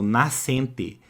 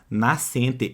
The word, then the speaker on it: nascente: mas apenas um som eu não escuto o som daquele S repare eu falo Nascente Nascente eu não falo nada é diferente por exemplo da palavra escola cuidado tá é muito diferente por exemplo da palavra escola olha aqui ó vamos lá ó na palavra Nascente repara comigo Nascente repare que aqui eu tenho SC juntos né SC juntos mas eu não escuto aquele S É como se eu